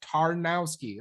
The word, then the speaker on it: Tarnowski: Actually, Pat's last name is actually pretty easy. Like it looks complicated, but it's just Tarnowski.